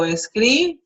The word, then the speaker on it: escriba: Notice that the pronunciation changes from escribir, which shows the accent in the last syllable, and here it goes to second to last. Escriba, so it happens in all of that. The accent goes to the second to last syllable.